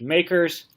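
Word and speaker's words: MACRS: accelerated cost recovery system again pronounced makers by tax accountants to be able to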